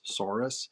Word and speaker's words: saurus: was a little kid i still can't pronounce s-a-u-r-u-s soros okay taurus soros yeah yeah okay so